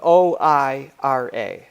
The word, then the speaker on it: Moira: Say it again. Moira. Moira? Moira? Yeah, I think I was close to that.